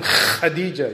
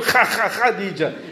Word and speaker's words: Khadija: Tell them Khadija, yeah. Kha, it's the Kha. Even teach them how to pronounce it. It's good. If they know you're a lovely person, they won't mind calling you Kha Khadija.